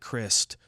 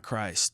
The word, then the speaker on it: Christ: In German, it's pronounced more like crist. Rhymes with wrist, not Christ.